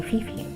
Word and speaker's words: Fifi: Yes, my family called me Fatum and my friends call me Fifi. Oh, it rhymes like Kiki.